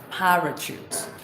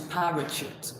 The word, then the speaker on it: parachute: How can he pronounce parachute when the RA is not sounding ra to him? So I'm explaining to him that normally the RA, the vowel in it, the A, is weak.